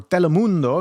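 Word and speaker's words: Telemundo: in his interview to Telmundo or Telmundo if you're you got that nice little accent there or not even accent but the proper pronunciation in uh Spanish is he said he's there to enforce the law.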